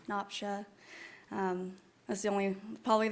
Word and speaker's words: Napsia: Uh, my name is Noopsha. It's Napa.